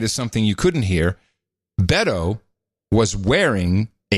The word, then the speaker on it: Beto: notice something about Beto I know how to pronounce it now it's Beto Beto yeah it's like saying Roberto you just dropped a row and the earth Beto